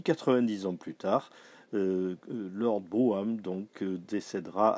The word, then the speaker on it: Brougham: bien et puis 90 ans plus tard leur bôme donc décédera à cannes en 1868 petite précision